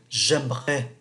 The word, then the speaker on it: j'aimerais: Bây giờ Frank nói, j'aimerais, cái này chúng ta không phát âm ký tự ở giữa.